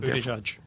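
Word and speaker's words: Buttigieg: transportation whose name I unfortunately have never heard pronounced in Buddhaj Buddhaj um secretary buddh judge was like literally uh replying to him directly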